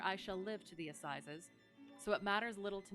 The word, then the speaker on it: assizes: Oops, not Sykes's. Seizes. Pronouns. Assizes. It is assizes.